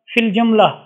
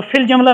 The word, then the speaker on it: فی الجملہ: پڑھتے ہیں، ٹھیک ہے۔ تیسری قسم ہے یا معدولہ، ایسی یا کو کہتے ہیں جو تلفظ میں نہیں آتی، ٹھیک ہے، جو سائلنٹ ہوتی ہے، جیسے مثال فی الجملہ، تو فی الجملہ میں یا نہیں پڑھی جاتی، اس طرح فی الحقیقت،